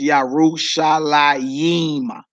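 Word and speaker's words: ירושלים: Both words are pronounced the same. So that last Jerusalem, you see how it's pronounced, Yerushalayim, Yim. So whether you see the yod in between the lamed or the mem or not, you still pronounce it Yerushalayim.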